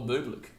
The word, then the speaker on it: Bublik: How do you pronounce it? Is it Bublik or Bublik?